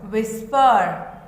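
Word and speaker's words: whisper: Then number 4 विस्पर. 4 विस्पर. WHIS विस, PER पर. विस्पर. विस्पर में H जो है वो क्या है? साइलेंट है. क्या है? H साइलेंट है.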